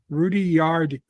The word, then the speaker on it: Rudyard: charles dickens or the rudy yard yard kipling um no it is not rudyard kipling i'm just saying that's how you pronounce his name um it's not mark